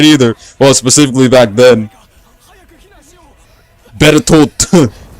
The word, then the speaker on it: Bertolt: Bertolt. It had a D near the end of the T, but.